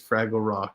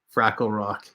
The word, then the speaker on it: Fraggle Rock: last week was fun my friend always mispronounces fraggle rock and say freckle rock yeah i loved fraggle